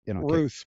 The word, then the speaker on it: Routh: Ruth. Yeah, and it's spelled Routh.